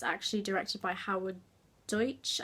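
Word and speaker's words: Deutch: actually directed by howard deutsch i think i'm pronouncing that correctly deutsche dutch um and it is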